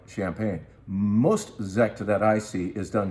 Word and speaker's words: Sekt: This is a Sekt. What is Sekt? That's S-E-K-T, and that's how you pronounce it.